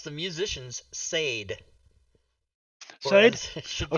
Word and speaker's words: Sade: I pronounce the musicians Sade. Sade? Whereas it should Oh, be Sadie?